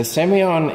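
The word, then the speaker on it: Sémillon: of those characteristics okay so semion is a very light dry acidic wine you know some people are a little bit scared about semi-on at first for a start it's hard to pronounce it's a flavor profile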